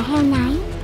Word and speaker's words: Samhain: Nguồn gốc của Halloween bắt nguồn từ lễ hội cổ đại Samhain của người Celtic, phát âm là heo nái.